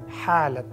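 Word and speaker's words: حالة: I need not remind you that this starts with ha, ha. And try to be as accurate in your pronunciation as possible. Ha, correct sound? Ha, halat.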